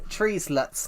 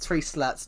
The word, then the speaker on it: treeslets: Well, treeslets, not tree slats.